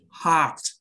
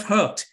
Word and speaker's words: heart: repeat after me yeah first one is heart it's not hurt a lot of videos